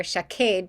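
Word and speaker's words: שָׁקֵד: can see that and showcade without the vowels are the same word shinkuf dalid one here chakade pronounced this way meaning an almond tree showcaid here and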